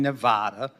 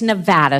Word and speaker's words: Nevada: information over point in Nevada okay Nevada it's Nevada sir please say it correctly it's Nevada if a veteran Liv